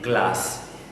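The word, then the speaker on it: glace: Pronunciation is glass.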